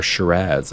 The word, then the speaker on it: Shiraz: or you've heard of the wine type Shiraz or Shiraz as I've learned that the local Australian people pronounce it.